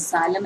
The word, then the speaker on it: xylem: चलिए आज हम बहुत इंपॉर्टेंट टॉपिक करते हैं, that is जाइलम and phloem.